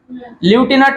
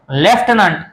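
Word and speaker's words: lieutenant: एल टी म्हणजेच ल्युटिनंट ल्युटिनंट म्हणायचं नाही ही स्पेलिंग आहे ल्युटिनंट एल आय इय टी इ एन ए एन टी ल्युटिनंट तर याचा उच्चार होतो लेफ्टनंट आणि आर्मी मध्ये ही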